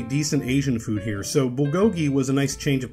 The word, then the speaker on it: Bulgogi: I think basically anyone outside of Korea knows this word as Bulgogi. When you walk into Bulgogi and sit down, the server welcomes you by saying, "Welcome to Bulgogi." But in Korea, it's pronounced Bulgogi.